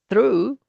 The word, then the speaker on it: through: So, as it says here in this title, these other words, in these other words, the GH is silent. High, sigh, though, through, although, though.